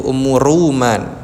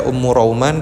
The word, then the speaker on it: Ummu Ruman: banyak ulama itu adalah bacanya dengan bidammir ro yaitu Ummu Ruman. Jarang yang membaca Ummu Rauman kecuali Imam Ibnu Abdil Bar ini.